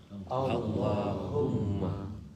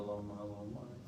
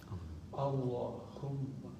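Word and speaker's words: اللهم: Maka ketika baca Allahumma, coba baca Allahumma. Jadi jangan coba Allahumma. Haknya ha besar. Allahumma.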